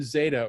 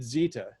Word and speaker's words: Zeta: This is a Lightburn Zeta, or is it Zeta, should I be saying? Zeta's the proper pronunciation.